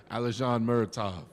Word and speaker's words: Alizhan Muratov: Alizhan Muratov.